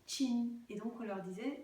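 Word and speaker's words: qing: je vous en prie qui est écrite Q I N G et qui se prononce chin.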